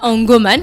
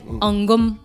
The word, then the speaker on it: Angom: Et donc après, on a Angoman. Je sais pas si je prononce bien. Angom. Ndoman. Non, Angom. pas Ndoman. Angom. Angom. Donc plus d'amis, plus d'amitié. Donc Angom. Il n'y a pas de man.